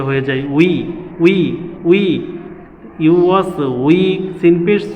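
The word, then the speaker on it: يُوَسْوِسُ: ইউ ওয়াস we, scene পেশ সু, ইউ ওয়াস উইসু, ইউ ওয়াস উইসু, ইউ ওয়াস উইসু, আল্লাযী ওয়াস উইসু।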